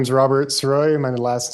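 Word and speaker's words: Sirois: the record yes sir my name is Robert ceroy my last name is spelled s-i-r-o-i-s what is your current occupation I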